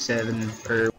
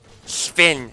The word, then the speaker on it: Sven: Oh, I hate this guy, I hate Seven, Sven, not Seven.